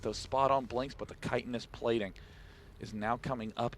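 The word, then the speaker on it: Chitinous: I did indeed open up Wikipedia and figure out how to pronounce that for this match. Kitanis plating, one of the most mispronounced upgrades in the world. Yeah, Chittinus, of course not.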